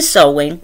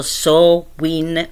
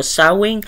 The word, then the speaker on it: Samhain: con lunghi festeggiamenti e sowen pronunciato so Win dove so fa rima con co co Quindi sarà Win Win Perché molti dico sowing molti dico sowing quindi